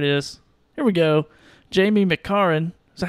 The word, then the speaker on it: McCarran: Jamie McCarran. Is that how you pronounce that, Gary? You're the English professor here. Yeah, let's go, McCarran.